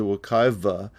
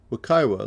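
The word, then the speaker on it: Wekiwa: va means flowing water however the muskego language doesn't use the consonant sound v what likely happened is the wakaiva was used by land developers probably because it's easier to pronounce by english speakers wakaiwa like most of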